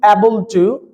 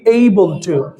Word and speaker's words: able to: আচ্ছা, এটা আমরা বলি অ্যাবল টু। এটা কি অ্যাবল টু না এটার উচ্চারণ কি এইবল টু? এইবল টু। তো আজকে থেকে এটাকে আমরা কি বলবো? এইবল টু, নট অ্যাবল টু।